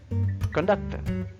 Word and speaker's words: conductor: Conductor. How to pronounce? Conductor, conductor. You can remember after the C. If not IOE, if not IOE, then sound is K sound.